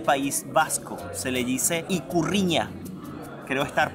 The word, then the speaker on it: Ikurriña: Se le dice Ikurriña. Creo estar pronunciándolo bien.